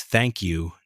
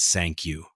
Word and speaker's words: thank you: It's thank you, not sank you. You've got to make the th sound C.